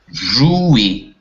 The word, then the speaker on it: jouer: je Jouer. jouer, ЭУ читается как У, эр читается как И. Jouer.